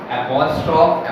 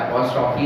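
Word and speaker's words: apostrophe: Simile, metaphor, personification, एपोस्ट्रोफ, एपोस्ट्रॉफी नहीं होती है, ये एपोस्ट्रोफ है, ऑक्सीमोरन, हाइपरबोल एंड ओनोमेटोपोइया।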